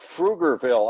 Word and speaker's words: Pflugerville: Like Pflugerville outside of Austin, Texas. It's spelled with a P, but you don't pronounce the P. You pronounce the F before the P.